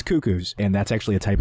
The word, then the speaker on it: Cuckoo: uh couple of cucko and no that's not pronounced cus trust me on this there's there's no cucks in this that's not what it is it's cuckoo and that's actually a type of bird don't